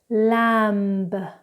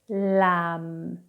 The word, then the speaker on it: lamb: Now, when we have M and B together in a word, we do not pronounce the B.